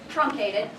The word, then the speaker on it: truncated: So, on the board, antecedent, deft, verbatim, forsake, truncated, and that is said like this, trunk, like close the trunk of your car, truncated, pillaged, predators, ubiquitous, embodied, and doubts.